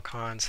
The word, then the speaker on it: cons: it says true sometimes cons question might be pronounced as cones huh while cons how the empty lists